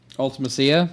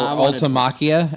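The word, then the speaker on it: Ultimecia: Ultimacia. Yeah. Yeah. Yeah. I wanted this card. or Ultamakia as uh Gavin pronounces them.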